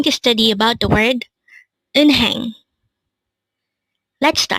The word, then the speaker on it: 은행: hangle word number 312 in hang again it's in hang this composed of two syllables the first syllable is in second syllable is hang pronounce it with me in hang in hang what is the